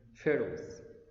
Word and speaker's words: pharaoh: H is silent, don't say it. Pharaoh, pharaoh, pharaoh. We can plural it, okay? It's countable. Pharaohs.